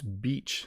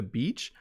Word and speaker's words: beach: is because people who are learning English often mispronounce beach. You go to the beach to play in the sand and to enjoy the summer weather.